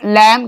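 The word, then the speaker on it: lamb: अगर MB last में है तो B का उच्चारण नहीं होगा, कम, थम, लैम, क्लाइम।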